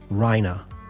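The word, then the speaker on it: Reiner: do all the voices, they pronounce Rhina's name Rhina with an a or an ah at the end. Rhina, which is accurate to the way that somebody might pronounce it in Germany, but it's not accurate to how you would pronounce it in English cuz it's an e r rher.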